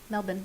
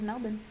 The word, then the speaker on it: Melbourne: in Sydney but lived in Melbourne Melbourne sorry Melbourne is how you're supposed to pronounce it really the Aussies pronounce it as Melbourne Wow every day kids yeah she started as